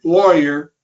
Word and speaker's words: Laurier: here so anyway yeah Jim lawyer um it might look like Laurier okay but he's he's explained that they go by the Americanized pronunciation of the name okay well we